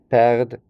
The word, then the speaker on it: perdent: perdez, you are losing, and then ils perdent, elles perdent, we don't pronounce the ENT at the end, Okay, in the same